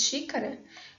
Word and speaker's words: xícara: Na nossa produção corriqueira, quando nós falamos xícara, muitas vezes esse último A quase nem é realizado, de tão átono que ele é.